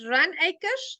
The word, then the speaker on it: Runacres: Is it Runacres? How do we pronounce that, Alan?